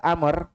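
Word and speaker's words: عمرو: Kemudian beliau lanjutkan karena Amr sini ingat dibaca Amr pakai huruf W di akhirnya. Kalau hilang huruf W-nya bacanya apa? Umar.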